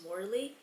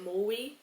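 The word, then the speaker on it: Morley: And for example, my last name is Mley. M O R L E Y. Before I would say Mui Mui.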